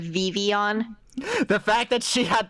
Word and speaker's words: Vivillon: The fact that Can we give Tiger the negative points anyway for pronouncing it Vivillon instead of Vivion?